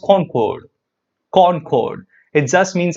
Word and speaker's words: concord: you see this word con chord it's actually pronounced con chord con chord it just means agreement the word